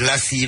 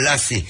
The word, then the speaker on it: Lassive: Because instead of them try pronounce it Lassive, they say Lassie.